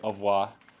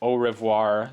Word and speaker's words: au revoir: Au revoir, monsieur. Au revoir, monsieur. Ah, I wish I was French so I could say au revoir. You know, instead of au revoir, you know, like we Americans make it three Hello, Nico.